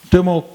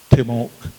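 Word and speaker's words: Te-Moak: You may have heard of Timok. Timok is the way it's pronounced, and it means rope, Timok. And over time, the English translation is a good example. It's spelled T-E with a hyphen, M-O-A-K, Timok.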